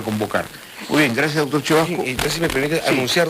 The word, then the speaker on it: Cevasco: Se escribe Sebasco y se pronuncia Chevasco.